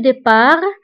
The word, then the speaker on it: départ: وانتبهوا بالنسبة le départ كنكتبوها بالت في آخر الكلمة ولكن لا ننطقها. ضده هو الوصول أو l'arrivée. le départ l'arrivée.